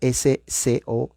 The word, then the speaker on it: Scopes: que se llama el juicio scopes se deletrea scops no se pronuncia la e y trial o sea el